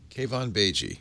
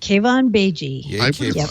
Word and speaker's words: Keivan Beigi: Mary Jo Browns perfectly elastic cave on Beijing cave on BG cave on BG not pronounced it that way so I'm glad I